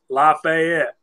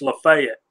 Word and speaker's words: Lafayette: Everywhere else in the world, it's Lafayette. Yes. But in Georgia, it's Lafayette. Correct. Yeah. Just got to be different.